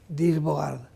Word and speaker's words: Dirk Bogarde: tristemente fallecido, que es Dirk Bogarde, pronunciado, digamos, españolizado, Dirk Bogarde.